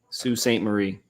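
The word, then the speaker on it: Sault Ste. Marie: Is that so or Sue? Sue Saint Marie, Mary, whatever. Marie. Yes, Marie. Sue Saint Marie.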